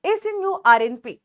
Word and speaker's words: snRNP: भी कहा जाता है, often pronounced the SNURNP, ठीक है।